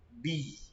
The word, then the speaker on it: بِ: Al-ba'u. Kita bacanya bi.